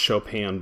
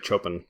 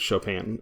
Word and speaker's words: Chopin: story of an hour it's pronounced Chopin by the way it's it's French but yeah you don't want to just say Chopin basically it's Chopin so this is 1894